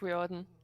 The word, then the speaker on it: Riordan: pretty close actually rick riordan yeah okay it just sounds like you almost ignore the r reorder no you do okay